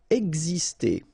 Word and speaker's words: exister: Exister. Okay, so it's really this X here, it's pronounced like X, X, exister.